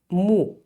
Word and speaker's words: 木: then we have the present one it is pronounced Mo moo so this moo is a independent character it